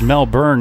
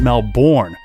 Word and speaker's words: Melbourne: sure to tell me that it's Mel burn not Melbourne so I must have